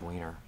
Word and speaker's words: Weiner: It's William Winner. Okay. Looks like winner.